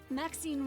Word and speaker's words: Maxine: Maxine rhymes with queen after all.